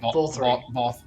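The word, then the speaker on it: Vauthry: Vault. It's like vault, but then instead of alt at the end, you just say 3. Does that Vol make sense? 3. Vol 3.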